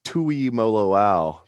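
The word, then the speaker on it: Tuimoloau: yeah thanks to bill crulick i know it's tui mo lo ao tui mo lo ao so there we go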